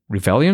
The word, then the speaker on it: Revelian: Revelian, is that the way to pronounce it?